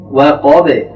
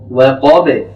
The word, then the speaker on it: وقب: ওয়াকাব, ওয়াও এখানে পাতলা, কফ এখানে মোটা, এবং শেষে যে বাটি এসছে বাটিও পাতলা হবে। ওয়াকাব, এভাবে উচ্চারণ হবে।